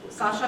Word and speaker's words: Sasha: So, yeah, name is pronounced Sasha, but it's written because I'm from this part of the world where they speak like this. And, Sasha is nickname for.